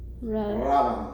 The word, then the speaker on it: rábano: Rábano.